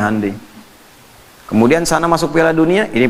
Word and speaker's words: Hyundai: Jepang bikin Honda ya Korea bikin hundai Hyundai bacanya hundai kemudian sana masuk dunia